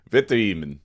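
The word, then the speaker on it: Witteveen: And then Sam Whitten Even, is that how you say it? Victor Eman. Uh, so Oh, yeah. It's German like we've got Yeah.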